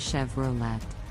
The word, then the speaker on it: Chevrolet: Volkswagen let's talk about Chevrolet an American brand the correct pronunciation is Chevrolet with the emphasis on the second syllable many people mispronounce it is Chevrolet now let's look at